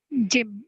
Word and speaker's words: gym: public transport yes Jim you have to work on the pronunciation of gym it's a jar not a girl sound it's a sound gym okay yeah so that I